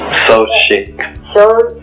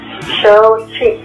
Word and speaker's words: Xochitl: It's called So Chic. So Chic. So Chic. It's spelled XOCHITL. It's Nahuatl or flower.